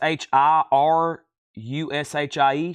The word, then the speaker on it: Shirushi: record that was right here Chris ridings it is spelled s sh i r u sh I shirushi Japanese rock py rock sep for Montreal